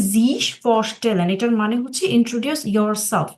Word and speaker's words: sich vorstellen: ফসলেন জিশ ফসলেন হ্যাঁ উচ্চারণটা হবে জিশ ফসলেন এটার মানে হচ্ছে ইন্ট্রোডিউস